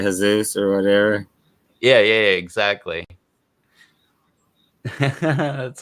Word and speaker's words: Jesus: Like instead of H-A, because J is pronounced like an H in Spanish. Yeah. Like Jesus is actually Jesus or whatever.